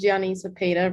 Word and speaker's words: Gianny Cepeda: So our last question for tonight is Gianni Cepeda, if I pronounced her name correctly. The floor is yours. Hello, hi. My name is Gianni Cepeda, really close.